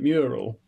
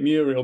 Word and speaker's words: mural: I also enjoyed you, I presume you meant mural, but you pronounced it Muriel because you were thinking of a woman.